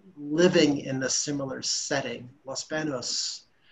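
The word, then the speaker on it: Los Baños: Los Banos, properly pronounced Los Banos, in the center of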